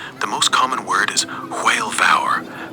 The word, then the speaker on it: Hwyl fawr: For goodbye, the most common word is "Hwyl fawr," pronounced "Hoo-il vow-er," which literally means big cheer or good luck.